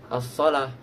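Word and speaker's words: الصلاة: Contohnya as-shalah ditulis dengan wawu tapi bacanya tetap as-shalah gitu.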